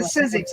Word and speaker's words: Sizzix: yeah I thought you said physics it's a sizzix I say it wrong all the time oh